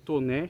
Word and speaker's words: Taunay: E os avós dele, por isso que o nome dele se escreve Taunay, né, mas é Toné que se diz.